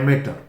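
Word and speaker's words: amateur: हैं उसे बोलते हैं एमेच्योर और स्पेलिंग में ध्यान दीजिए स्पेलिंग भी इसकी थोड़ा सा कन्फ्यूजन है मैटर ए एम ए टी यू आर तो है एमेच्योर अमीटर नहीं बोलेंगे फोटोग्राफी करते हैं तो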